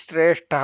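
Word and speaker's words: ಶ್ರೇಷ್ಠಃ: ಷ ಇದೆಯಲ್ಲ ಅದೇ ಇಲ್ಲಿ ಶ್ರೇಷ್ಠಹ ಬರುತ್ತೆ ಅದೇ ಆರ್ಡರ್ ಅಲ್ಲೇ ಬರುತ್ತೆ ಶ್ರೇಷ್ಠಹ ಅಂತ ಹೇಳಿ ಉಚ್ಚಾರಣೆ ಮಾಡುವಾಗ ಅದನ್ನ ಗಮನಿಸಿಕೊಳ್ಳಬೇಕು ಮೊದಲನೆಯದು ತಾಲವ್ಯ ಶ್ರೇ ಎರಡನೆಯದು ಮೂರ್ಧನ್ಯ ನಾಲಿಗೆ ಮೇಲೆ ಹೋಗುತ್ತೆ ಶಷ್ಟಹ ಅಂತ ಈಗ ಅರ್ಥದ ಬಗ್ಗೆ ನೋಡೋಣ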